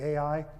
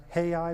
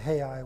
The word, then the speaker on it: Ai: By the way, our English uh pronunciation is usually Ai, the uh Hebrew, the Jewish in Hebrew is pronounced hei with a with an h.